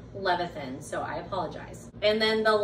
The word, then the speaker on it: Levithan: And when I looked it up, the way that I understand it is David Levithan.